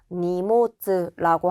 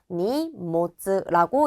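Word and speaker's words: 荷物: 두 번째 나온 이 한자는요. 모노라고 읽는 게 훈독이고 음독 발음이 모츠와 부츠 두 가지가 있는데 우리 요때는 음독으로 읽어서 니모츠라고 하게 돼요. 그러면 이게 짐, 화물이라는 뜻이 되고 요렇게 훈독과 음독이 합쳐진 한자도 있기 때문에 요런 것들은 체크를 해 주셔야겠죠. 어떻게 읽는다고요? 니모츠라고 읽습니다.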